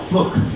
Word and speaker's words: Fluke: all of her students, my name is Mrs. Fluke. It rhymes with book because I like to read.